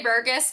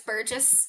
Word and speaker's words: Burgess: A lot of people say Burgess, but it's Burgess.